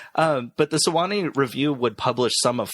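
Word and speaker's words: Sewanee: a literary magazine called the sawani review yeah sawani all right good job yeah well I put the I put it phonetically and bold next to it so I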